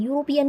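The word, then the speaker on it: European: यूरोपियन का ई जो है वावल है, बट ये प्रोनाउंसिएशन वाई वाला दे रहा है। तो यहाँ पे क्या आएगा, वाई वाला प्रोनाउंसिएशन दे रहा है, तो कॉन्सोनेंट साउंड हो गया, तो ए आर्टिकल आएगा यहाँ पे।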